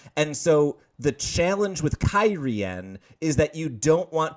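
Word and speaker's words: Cairhien: So, now that we know how to pronounce that city, Kyrian, I've heard Cairhane enough times that I just had to today.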